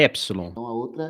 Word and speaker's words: epsilon: Eu tô fazendo aqui a correlação fonética do epsilon, que se pronuncia como um E com acento agudo, e do ômicron, como se pronuncia com um O com acento agudo.